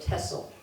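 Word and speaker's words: Texel: says with X that in Dutch you don't pronounce your X as we do so it's pronounced as s so tessel I magnified a portion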